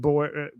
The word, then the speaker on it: Boer: Boar. Kill the boar. Boar. What is that? Can you just pronounce it like the animal? Kill the boar. It's That's like correct. just like the boar, the animal.